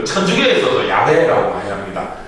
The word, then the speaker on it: 야훼: 그 천주교에서도 야훼라고 많이 합니다. 이 발음상 원어 발음이 좀 야훼라고 할 수 있다고 그러더라고요.